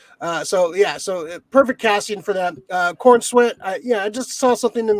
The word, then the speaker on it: Corenswet: Corenswet.